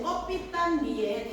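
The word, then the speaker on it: 꺼삐딴: 자, 제목의 의미, 소설의 제목, 껍빛단위에 담긴 의미를 정리해보자 라고 얘기했는데, 자, 잘 보세요. 껍빛단은요, 캡틴. 캡틴은 대장이잖아. 즉 영어로는 캡틴입니다. 근데 그 러시아식 발음으로 껍빛단. 이게 약간 와전돼서 껍빛단이 된 거예요.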